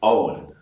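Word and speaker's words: Eoin: How do you really pronounce it? In Irish, it's Owen.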